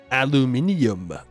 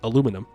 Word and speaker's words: aluminum: Aluminium. Which is the incorrect way to say it. Aluminum.